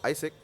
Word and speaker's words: AIESEC: So it's called Isaac and it's a worldwide youth run organization.